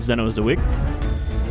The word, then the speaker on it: Zenozoic: more ambitious mod called zeno zuwig which is how they pronounce it in game it's still the setting